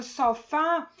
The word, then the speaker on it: sofá: Perceba que na palavra sofá, a última sílaba, que é o fá, que é a sílaba tônica e por isso ela é acentuada.